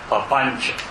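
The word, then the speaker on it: papañca: We have a word for that, Pāpañca. P-A-P-A-N-C-A. The C is always pronounced as ch, like CH in church.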